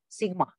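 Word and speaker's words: Σ: This formula is usually written in a different manner using the Greek capital letter summation, pronounced sigma, which means sum of.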